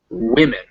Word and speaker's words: women: particularly pesky one because woman and women the ma the m-a-n and the m-e-n are both pronounced men in these words but in the first one it's woo and second one it's wit so woman women in the first one it's that it's that relaxed u sound and the second